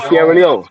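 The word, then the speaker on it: Sierra Leone: got tie but could everybody Sierra Leon Sierra Leon Yes.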